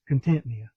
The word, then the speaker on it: Contentnea: Um there are several different pronunciations, but I'm going to use Contentea. Because that's what the creek's named.